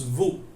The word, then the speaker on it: vous: We have to choose vous. We have to choose what? Vous. So you know the spelling of vous, V-O-U-S, but we should not pronounce the S when we speak in French.